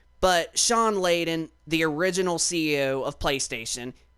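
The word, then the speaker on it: Layden: Shawn Leen Shawn leaden I don't know why I said Shawn leing it's just hard to pronounce his last name but Shawn leaden the original CEO of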